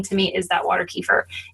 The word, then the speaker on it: kefir: tear apart um water kefir first of all is it kefir or keer what's your take that it's keer we say it wrong ke okay but nobody